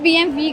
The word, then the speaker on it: BMW: Basically उसको pronounce B एम वी करते हैं।